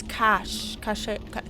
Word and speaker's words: cache: New quest, the Grey Warden's cache. How do you pronounce that word?